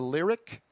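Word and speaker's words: Lyriq: that the names of two upcoming cadillacs the lyric lyric uh-huh lyric and that's spelled l-i-l-i'm sorry l-y-r-i-q and the celestique c-e-l-e-s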